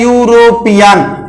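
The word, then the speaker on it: European: सामने ये लिखा है यूरोपियन, ई से स्टार्ट हो रहा है, लेकिन इसका जब उच्चारण करते हैं तो इसका उच्चारण या से हो रहा है।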